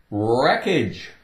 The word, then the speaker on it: wreckage: you wrap a package wreckage wreckage take away the W no sound well the W is